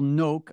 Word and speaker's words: Noak: And so that person, Crystal Noak, I believe is how you pronounce her name. That is correct.